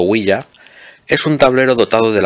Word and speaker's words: ouija: con diéresis y jota o ouija pronunciado huella es un tablero dotado